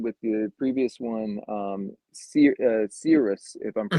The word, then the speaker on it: Cirrus: But like you were saying with the previous one, Cirrus, if I'm Hmm. pronouncing that right, Mark, Serious, yep.